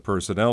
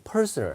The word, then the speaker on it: personnel: 예, 앞에 액센트 이 personal 한 건 개인적인 거고 personnel 이렇게 해야지 인사과가 됩니다.